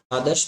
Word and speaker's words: आदर्श: ठीक है, क्योंकि हम द के बाद र का उच्चारण कर रहे हैं और इसमें इसमें